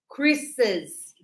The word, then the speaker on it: Chris's: We will use the apostrophe after the last S, but we will pronounce. So we will say, how old are Chris's? Chris's. So extra S when we pronounce.